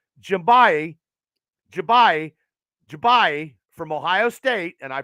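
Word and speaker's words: Njigba: Ohio State receiver Jackson Smith and I will pronounce this right jimbayi from Ohio State and I pronounced it right through the Steelers at 17.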